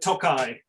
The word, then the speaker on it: Tokaji: just misprinted everything because sometimes the eye is there sometimes it's not but tokai is my outsider's version of the pronunciation well you also confuse